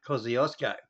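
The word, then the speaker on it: Kosciuszko: yep yep yep yep he said the word wrong it's called mount cosiosco you get back and listen what he said we say mount cosiosco now just for a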